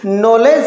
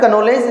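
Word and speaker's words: knowledge: ना बोलते ठीक है नॉलेज को अपन क नोलेज नहीं बोलते उस प्रकार से जिसका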